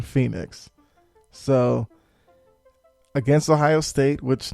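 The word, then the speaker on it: Penix: It's like, I think he pronounced it Phoenix or something, Junior. I only say that because it's not like Phoenix the city. He doesn't spell it that way, but I believe on the broadcast they kept saying Phoenix.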